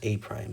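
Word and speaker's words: A′: But you should know that it's pronounced A prime. So A apostrophe is read a prime.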